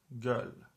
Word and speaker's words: göl: Let's pronounce it. Özge. Özge. Özge is a name. Or this word, it's göl.